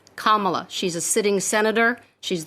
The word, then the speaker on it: Kamala: of mispronouncing her first name her name is pronounced Kamala not Kamala not Camila it's Kamala she's a sitting Senator she's the first woman